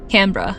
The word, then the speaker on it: Canberra: You said it wrong. I'm sorry. Canberra? Canberra. Okay. There you go.